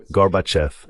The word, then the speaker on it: Gorbachev: "Gorbachev." Je disais Gorbachev. C'est très simple.